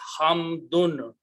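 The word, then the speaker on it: حمد: The pronunciation is hamdun. Things change afterwards, but initial word is hamdun.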